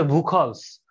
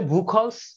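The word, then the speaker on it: Buchholz: আসে যে অনেক সময় এটা অনেকে ভুল উচ্চারণ করে থাকে তো সেজন্য বলে দিচ্ছি যে এটার নাম হচ্ছে ভুখ রিলে ভুখ রিলে কেন ইউজ করা হয়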